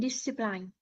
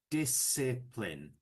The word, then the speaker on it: discipline: and discipline. Yes, but we need to pronounce it this way. Disipline. So, it's a soft I each time.